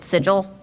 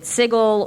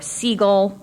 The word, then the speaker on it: Sigil: the books that people who pronounce it sigil are backwards and clearly have never been in the plains before for don't know what they're doing and are very easy to Rob uh so people pronounce it sigle or seagull I like seagull because it's loud and we'll steal your fries um sill I've seen although I don't quite get that one and just for people